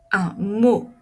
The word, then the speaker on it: mot: un vélo une moto un mot ici je ne prononce pas le T une photo mon dos